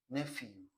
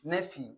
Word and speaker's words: nephew: You can also pronounce as a nephew. So it has two pronunciations. Okay, so nephew or nephew.